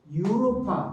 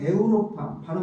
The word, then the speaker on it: 유로파: 그래서 그러니까 이오 유로파 또는 에우로파, 발음상의 차이입니다.